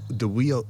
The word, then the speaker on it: Wiyot: The Eel River, the Wiyot Indians up there in Humboldt.